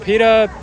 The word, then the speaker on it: PETA: know a ton of is it Peta is that how you pronounce it yeah people ethical